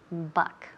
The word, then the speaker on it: buck: to pass the buck buck okay and the pronunciation here but the pronunciation is okay it sounds like b-a it sounds like B A but you write it with a bu so to pass the